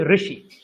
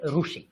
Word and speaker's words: ঋষি: ঠিক তেমনি আপনি যে প্রশ্ন করেছেন, এই যে রি, এটাকে বিশেষ করে পশ্চিমের লোকেরা মানে গুজরাট, রাজস্থান, মহারাষ্ট্র, এরা রু উচ্চারণ করে। এটা ভুল না, ওই যে ভাষা গোষ্ঠীর ধরন অনুযায়ী। তাই জন্য ঋষি, আমরা বলি ঋষি, ওরা কিন্তু রি বলে না, ওরা বলে রু, ওরা তাই বলে ঋষি।